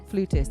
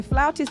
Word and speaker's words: flautist: No, in America it's flutist. Flutist. And in the UK it's always the way, isn't it? The UK and the US, we've always got a different way of pronouncing things.